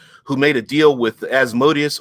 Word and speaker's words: Asmodeus: made a deal with Asmodeus or Asmodeus, if you want to pronounce it that way, or Zariel after her corruption.